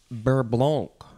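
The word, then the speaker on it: beurre blanc: the first word is berblonk i don't think you should say the c sound at the end it is spelled b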